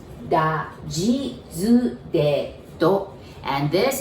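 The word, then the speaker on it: ぢ: because the second one, I know you might want to pronounce it like D-I, like D, but we pronounce it like J-I, G.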